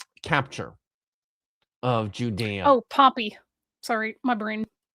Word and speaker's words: Pompey: the Great, decades before Pompey's capture of Judea. Oh, Pompey. Sorry, my brain. I heard Pompeii, as in the city, and then I had to immediately go, no, Pompey, the guy.